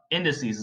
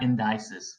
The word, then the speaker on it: indices: Indices, not indices. For a lot of you guys that are pronouncing it wrong, it's indices.